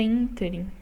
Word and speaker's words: ínterim: E a pronúncia correta é ínterim, né? Então, a sílaba tônica, essa é o IN, é a antepenúltima. Então, portanto, é uma proparoxítona.